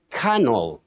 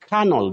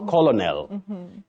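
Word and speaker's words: colonel: we have at ridiculous you say canel canel not colonal litigant not litigant litigant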